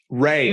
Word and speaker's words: Rhea: I think it's just Ray. Oh, just Ray Seehorn? Yeah, Ray Seehorn. Yeah. I've just been saying her name wrong for forever, so excuse me, Ray. It's spelled weird, so.